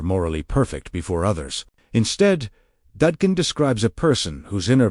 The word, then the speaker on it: Dadkein: The word for today's journey is Dadkein, pronounced Dadkein, meaning pure, transparent, cleansed of distortion.